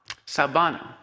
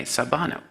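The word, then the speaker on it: sawubona: they have a term they call it salvano sabano that's spelled s-a-w-u-b-o-n-a sabano and he describes that what it means literally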